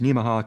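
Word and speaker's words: Nemaha: That's they say it's pronounced Neimah, kind of like Omaha.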